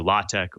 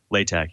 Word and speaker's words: LaTeX: So LaTeX, it's pronounced either LaTeX or LaTeX, even though it's spelled latex, it's kind of a good way to describe it is a document processing system.